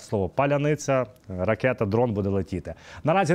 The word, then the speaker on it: паляниця: хто де є відповідно росіяни не можуть вимовляти слово паляниця прекрасні Мені здається назва для дрону ракети Ну і знаєте всі хто не будуть вимовляти слово паляниця ракета Дрон буде летіти